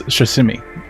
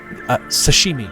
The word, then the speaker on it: Shishimi: It's Shishimi. Sashimi, like sushi. No. Correct? Shishimi.